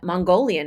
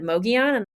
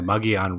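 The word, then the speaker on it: Mogollon: And then we started having to correct people from saying Mongolian instead of Mogian.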